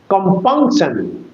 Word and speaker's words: compunction: It is a trisyllabic word. C-O-M-P-U-N-C-T-I-O-N. Compunction. Compunction. Com-pung P-U-N-C sun. T-I-O-N. There are 3 syllables in the one. And with your closed eyes, you will give the accent on the middle syllable.